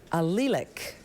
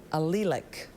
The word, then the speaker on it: allelic: Elsa, your word is allelic.